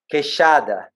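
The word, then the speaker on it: queixada: we got i'm gonna teach you like how to say the kick kesada yes that's perfect that's it oh that's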